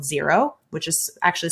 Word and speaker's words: Xero: online accounting software called xero which is actually spelled x-e-r-o but pronounced zero those two tend to